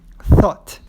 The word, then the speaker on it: thought: Você não pronuncia o GH aí no meio desse verbo.